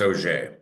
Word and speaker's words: Auger: Pronounce is you got a French last name, Auger I do. Yeah, it's a pronounced OJ.